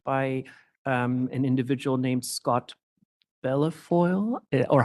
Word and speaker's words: Bellefeuille: an individual named Scott Bellafoil? Or how do I pronounce the name? I'm sorry if I mispronounce it. Yes, Your Honor. I believe it's Scott, but I know him as Scott B.